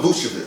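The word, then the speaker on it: Vučević: Nikola Vucevic.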